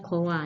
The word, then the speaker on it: choir: singing group orkes nih bacanya kowe bukan Choir tapi Gowa Oke dan